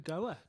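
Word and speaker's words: Go_A: chanting say artist from Goa no the artist name is Goa and it's actually pronounced as go a in English uh the group name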